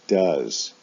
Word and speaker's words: does: For the S form, they both have OES as their ending, but do is pronounced does.